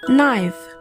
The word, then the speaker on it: knife: For example, knife. In knife, we don't say C or we don't pronounce C. We pronounce from N.